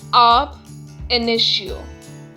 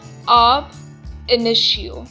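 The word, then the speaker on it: ab initio: void from the beginning let us understand the pronunciation of the maxim up initio once again up initio the second maxim is actionable per se it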